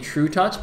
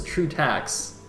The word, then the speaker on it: trutaCz: saying true touch well apparently apparently in Polish that says true touch that's that's the reason I don't know I mean uh yeah basically I I started pronouncing it true tax and then I was told that it's actually true touch so that's what I'm going with I think I've actually